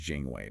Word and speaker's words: Jinghui: And that's pronounced Jing Way, by the way.